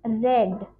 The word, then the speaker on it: read: this is read spelling same spelling just the pronunciation is different it is red red red democracy and